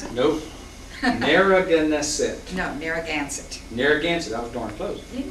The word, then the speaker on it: Narragansett: Can you pronounce it? Nope. Narragansett. No, Narragansett. Narragansett.